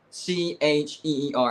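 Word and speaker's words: Scheer: don't know how to how to pronounce his last name is s c h e e r I think it's cheers cheer cheer cheer Jason anyways he's reporting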